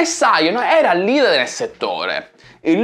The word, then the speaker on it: Psion: Siamo nel 1994 e la piccola azienda inglese Psion, che credo che si pronunci Psion, primeggia nella produzione di dispositivi mobili.